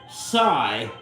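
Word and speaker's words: Jsi: a touchdown pass to a kid named Psy whose name is spelled j s i Hatfield on the first play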